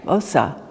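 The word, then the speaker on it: Xhosa: It's pronounced something like Osa. So it's like the giddy up click is an actual consonant.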